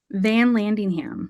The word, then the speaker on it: Vanlandingham: Vanlandingham.